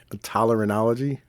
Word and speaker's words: otolaryngology: Because I can't even fucking pronounce it, right? It's Otolaryngology, right? Even spelling that word is ridiculous. Tolerology.